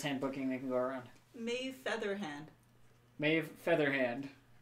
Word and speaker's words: Maeve: Siobhan, but it's spelled like the American Siobhan. Yeah. rather than the- SHY. yeah. Like, Maeve. Maeve is Maeve.